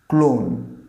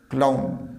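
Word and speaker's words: clown: পরের ওয়ার্ডটা দেখো তো, এই ওয়ার্ডটা, এটাকে আমরা ভাঁড়, মানে যে মজা করে যে করে ভাঁড়, ক্লোন, অনেকের উচ্চারণ করে ক্লোন। This is নট ক্লোন, ক্লাউন, উচ্চারণটা হবে ক্লাউন।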